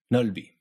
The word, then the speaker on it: 넓이: That first syllable alone is pronounced 널, even though there's a b at the end of it. It's only because that next syllable starts with a vowel that rule 3 kicks in, the b gets knocked into the beginning of the second syllable, and you can actually hear the sound.